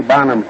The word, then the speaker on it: Bonham: and he said Tiny Bonham's name is were not pronounced I own and I guess I mispronounced it he says I own as in I own a Gillette razor so that's the proper